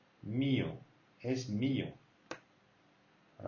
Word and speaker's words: mío: An accent on the E. Mío. If there would be no accent, you would say mío, but it means nothing, all right? So as there is an accent, you say mío.